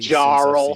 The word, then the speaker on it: Jarl: What's going on with this name that I've been pronouncing incorrectly? Jarl.